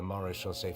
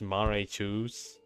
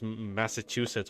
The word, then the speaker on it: Maréchaussée: Never not gonna pronounce that as Maréchaussée. Like earlier on the stream, I ended up reading it as Massachusetts or just Maggie. I am. Maréchaussée.